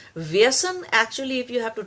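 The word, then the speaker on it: व्यसन: is called as vasana now the vasana is a very is not a correct pronunciation of the real word is vyasan the real sanskrit word is vyasan viesen actually if you have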